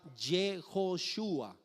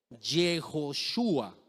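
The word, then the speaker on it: Yehoshua: Antes del cautiverio no se pronunciaba ni se escribía Yeshua, se pronunciaba Jejoshua. ¿Cómo se pronunciaba? Jejoshua. Así no se pronunciaba Yeshua, sino Jejoshua.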